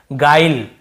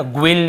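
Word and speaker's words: guile: देखिए इससे हम पढ़ रहे हैं गाइल, है ना, ग्विल या ग्विले ऐसे नहीं पढ़ रहे हैं, ई को भी लास्ट में नहीं पढ़ते हैं, केवल गाइल ऐसे पढ़ रहे हैं, गाइल, यहाँ पर भी ई साइलेंट है।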